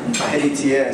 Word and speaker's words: Heritier: in Rio de Janeiro, Brazil, but when I came to Australia, no one knew how to pronounce my name, Heritier, so they gave me.